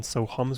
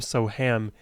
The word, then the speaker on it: Sohum: But my parents were, I think, savvy enough to realize that most Americans, most people in the West would understandably pronounce my name Soham, even though the true pronunciation is Sohum.